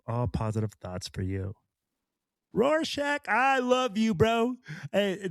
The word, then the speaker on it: Rorschach: It says it's Rorschach is the correct pronunciation.